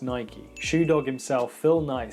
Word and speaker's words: Nike: they'd say and by the way it is pronounced Nike shoe dog himself Phil Knight said that so